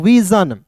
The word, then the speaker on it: vision: याद रखिएगा किसी भी वर्ड्स के अंतिम में SION दिखेगा तो इसे हम लोग पढ़ेंगे दोस्तों जन। बहुत लोग इसे सन पढ़ लेता है, नहीं, सन नहीं पढ़ना है, इसे क्या पढ़ना